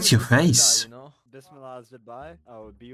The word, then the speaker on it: Bismillah: Is it Bismillah? Not Bismillah. It is Bismillah.